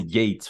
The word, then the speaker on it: Yeats: Je pense que c'est Yates, faut dire.